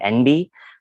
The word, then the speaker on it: enby: A term some people might be starting to hear more often is the term NB, which it's spelled ENBY, and it is basically just an abbreviation of non-binary itself.